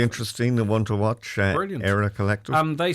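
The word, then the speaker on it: Eyra: and one to watch era collective and they spell that E R. Yes. Okay. So it might sound like era as in E I R E, but it's E Y R A if you want to search that.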